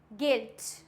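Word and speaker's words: guilt: For example गाइल, गाइल्ड, गिल्ट, गिटार, guard, biscuit. इसमें क्या है? आई है तो साइलेंट हो गया, ए है तो भी साइलेंट हो गया, आई है तो भी साइलेंट हो गया, क्योंकि ये सारे वॉयल्स हैं।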